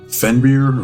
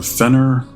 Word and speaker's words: Fenrir: We have Fenrir or Fenner, depends on how you say it, and the reigning, defending, undisputed NWA Exodus Pro World Heavyweight Champion El Hemwa Casanova Dante.